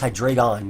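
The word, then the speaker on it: Hydreigon: care about toxic spikes because of hydraan or hydra. What? Hydration one. It's hydraon. That's the way I pronounce it.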